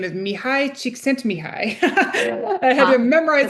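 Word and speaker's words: Mihály Csikszentmihalyi: It's his name is Mihi Chic sent Mihi.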